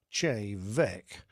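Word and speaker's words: Té Bheag: A riotous evening followed, and we drank many a nightcap of a local single malt Gaelic whisky, spelt T-E-B-H-E-A-G, pronounced Che Vec, but which we immediately dubbed Tea Bag.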